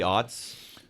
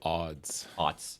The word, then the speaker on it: aughts: The early odds. Aughts. With a T. The And it's aughts. spelled with, like, every letter in the alphabet. It's not just, like, O-T. It's like A-U-G-H-T-S. Oh, ought. Like Aughts. I oughta. Like Meaning, I oughta.